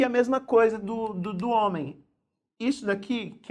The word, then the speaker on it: homem: que saber contar isso o homem o h não é pronunciado só que tem uma característica muito interessante quando a palavra terminem m em português você não pronuncia homem a homem normalmente faz um de tombo nasal homem aparece e então é assim